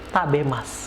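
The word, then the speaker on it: 食べます: B Mask akan tapi kalau misalkan kita ucapkan dituliskan tabe Mask ya ketika diucapkan tabir Mas Oh ya pak B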